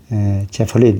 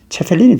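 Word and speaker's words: Zeppelin: 어떤 페르디난트 아돌프 하인리히 아우구스트 그라프 폰 제플린 이래 돼 있거든요. 이름이. 근데 제플린이라는 건 이제 우리가 영어로 하면 제플린인데 독일어로 하면 체펠린이 되거든요.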